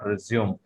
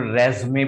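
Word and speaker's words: résumé: जहां भी आप अपने बायोडाटा को किसी को कहना चाहते हैं तो आप उसको रेज्यूमे बोलेंगे, या फिर रेज्मे भी बोल सकते हैं। इट हैज to pronunciation, this word has to pronunciation. The first is रेज्यूमे and second is रेज्मे।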